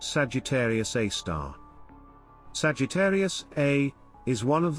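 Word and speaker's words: Sagittarius A*: Within the central bulge, at its very core, resides a supermassive black hole known as Sagittarius A, pronounced Sagittarius A star.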